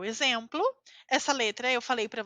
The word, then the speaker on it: exemplo: Nesse caso, eu tenho a letra X entre duas vogais es, então eu falo z, exemplo, exemplo. Aquela pronúncia do S entre vogais, que nós fazemos como o dente vibrando, exemplo, certo?